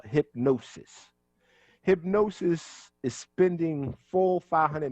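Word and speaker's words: Hipgnosis: white fronted blackface group called hypnosis it's spelled hip g-n-o-s-i-s so they telling you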